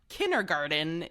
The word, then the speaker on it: kindergarten: it's not it's not kindergarten it there's a D in there it's kinderg I was